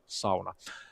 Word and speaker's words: sauna: And on that point, and it's pronounced Sauna, by the way, for everybody watching, not Sona, Sauna.